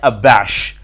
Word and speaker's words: abash: तो जी, वर्ड हमारे पास है ABASH और इसे आप प्रोनाउंस करते हैं अबैश।